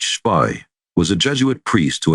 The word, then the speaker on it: Spee: Friedrich von Spee, pronounced Spy, was a Jesuit priest